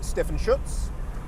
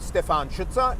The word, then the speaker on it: Stefan Schutz: i am my name is stefan schutz or stefan schutzer if you want to use the european pronunciation i work predominantly in